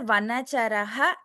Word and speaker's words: वनचरः: differently and also after वनाचर इफ यू are giving a break to before saying भक्ताव तमसायते please pronounce it एस वनाचरा pronounce the entire विसर्ग alright धन्यवाद भगिनी धन्यवाद अ